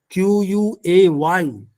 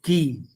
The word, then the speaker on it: quay: Even our engineers who use that term, Quay, is not quay, it is key.